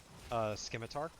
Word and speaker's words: scimitar: jinx actually went for scimitar there's it's a soft C SC is scimitar yeah it's like it